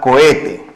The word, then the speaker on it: cohete: sílaba la tercera palabra la palabra cohete acá como usted está notando la h tampoco tiene sonido la ola de forme un gato y aquí la palabra tiene tres sílabas por lo tanto lo